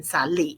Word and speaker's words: salí: Accent on the I in salí.